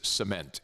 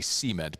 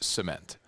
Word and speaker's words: cement: of the word is cement. In the south, we put the emphasis on the first syllable and say cement. But the correct pronunciation is cement.